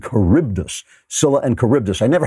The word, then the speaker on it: Charybdis: Homer and Greek mythology I called them Scylla and sharbat is it's Scylla and Charybdis Scylla and Charybdis I